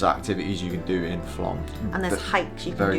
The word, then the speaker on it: Flåm: Um, so when you get to Flam Flam Flam Yeah, I keep pronouncing it wrong, but the um there's not much in Flam itself really, is there?